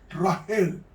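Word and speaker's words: רחל: Mañana, si Dios quiere, vamos a estudiar la muerte de Raquel, que se pronuncia en hebreo Rahel.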